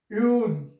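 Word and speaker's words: Öl: Next we have O with two dots, and that is equivalent with OE, and it is pronounced like U. U. Then we have one example, Ul, and Ul means oil in English language.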